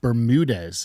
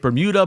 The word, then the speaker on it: Bermudez: uh Bermudez. Did I say it right? Beautifully said. Oh, somebody probably hacks up your name all the time. I get Bermuda, Bermutez.